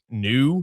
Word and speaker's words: Nu: I think it's called like New Stadium. NU. Maybe it's NU. I think it's pronounced new.